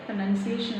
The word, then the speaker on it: pronunciation: ബട്ട് the correct form is പ്രൊനൗൺസിയേഷൻ. Pronunciation.